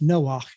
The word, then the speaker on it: Noah: There's the word Noah. That's how it's pronounced in Hebrew. We say it in English Noah, but it's Noah in Hebrew.